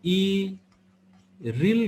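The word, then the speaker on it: 일일: गर्नु पर्छ ओके ल यसैले यसलाई इरिल गर्ने इल नगरिकन इरिल ओके ल त्यसपछि अब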